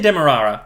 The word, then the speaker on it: Demerara: So I say Demerara. Okay. And there were people on the Great British Bake Off who pronounced it Demerara.